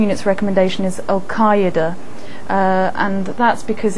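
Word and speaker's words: al-Qaeda: pronunciation unit's recommendation is alqaeda uh and that's because it's it reflects most closely the the original Arabic pronunciation finally a name that's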